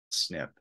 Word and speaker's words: SNP: kk1 gene so uh a single nucleotide polymorphism sometimes is pronounced as snip the SNP when you're